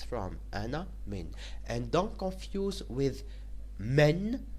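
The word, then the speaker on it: من: Min is pronounced min and it means from.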